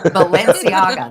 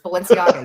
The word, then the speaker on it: Balenciaga: It wouldn't be if I pronounced it right. Balenciaga. That's what it is. Balenciaga.